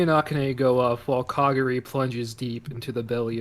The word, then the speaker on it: Kagari: And as they go towards the elevators, it shoots us over to Kagari. Did I say that right? Yes, you know. Kagari.